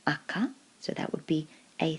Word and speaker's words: 赤: as a noun on its own then it's pronounced AKA so that would be a thing as in